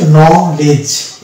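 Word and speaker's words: knowledge: এর আগে ডি আছে তাই ডি এখানে সাইলেন্ট হয়ে যাবে তাহলে এখানে এই শব্দটিতে ডি হচ্ছে একটা সাইলেন্ট লেটার এর এই শব্দটির পুরো উচ্চারণ হবে নলেজ নলেজ এই যে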